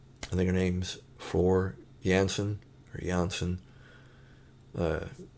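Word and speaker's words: Jansen: think her name's floor janssen or johnson uh her last name is spelled with a j but i think it's pronounced more like it has a y uh floor has a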